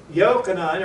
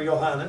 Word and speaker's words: Yochanan: Yochanan, or Yohanan, however you want to pronounce it, was clearly speaking of the Word.